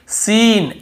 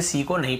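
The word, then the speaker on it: scene: salient है और देखिए सीन एस ई एन ई सीन ऐसे पढ़ रहे हैं यहां पर भी सी को नहीं पढ़ रहे स्कीन स्कीन नहीं पढ़ रहे हैं सीन सीन यानी कोई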